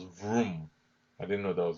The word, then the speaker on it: Vroom: very interesting one is sticker symbol vrm and they pronounce vroom I didn't know that